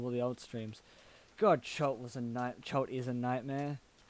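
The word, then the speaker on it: Chult: But, it's Cholt is spelled with a U. C-H-U-L-T. Cholt.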